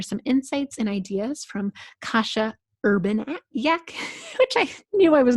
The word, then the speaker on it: Kasia Urbaniak: We made notes of pronunciation. Kasia Urbaniak.